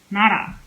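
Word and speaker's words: 나라: When le is in between two vowels, that is, it is in the word. It is pronounced as, it is pronounced more like an R sound. Na, nara, nara, nara.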